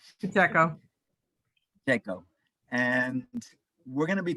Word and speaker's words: Pacheco: Pronounce that right? Pacheco. Pacheco.